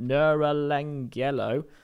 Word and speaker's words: Neuralangelo: this isn't video announcement neuralangelo catchy uh where you can now Angelo there's Michelangelo but neural that's definitely how you say it um yes two